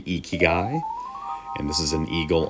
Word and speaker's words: Ikigai: new course, which I looked up how to pronounce it correctly, Ikigai.